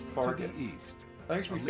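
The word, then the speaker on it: Faerghus: I don't like that it's pronounced Fargus.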